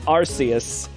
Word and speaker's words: Arceus: arceus yeah they're different the british one is arceus and the american one is arceus arceus oh my